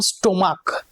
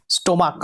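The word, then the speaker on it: stomach: যাচ্ছে শুধুমাত্র এস যখন স্টমাক ক উচ্চারণ হচ্ছে স্টমাক আমরা কি বলি স্টমাক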